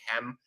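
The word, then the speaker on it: km: So when we're saying kem, we're assuming a kind of short E between the K and the M, but really what we just have is K and M, but we pronounce it as kem for convenience sake.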